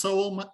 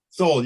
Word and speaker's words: Sowell: So Mike Sowell, is it pronounced Sowell, Tom? Sowell, yeah, he's a member of our group too.